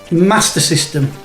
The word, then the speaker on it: Master System: plaster uh but yeah master system there's no iron it's not mars so from now on nathan griffo please pronounce it the correct way uh that is it